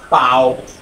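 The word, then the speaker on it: 包: যে শব্দটা সেটা হচ্ছে পাও পাও পাও এই টনটা হচ্ছে ফার্স্ট টন পাও পাও হ্যাঁ এই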